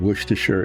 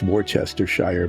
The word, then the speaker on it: Worcestershire: So it should be pronounced Worcestershire, but a lot of those things, those British English things, they just skip a whole lot of the letters when they say them.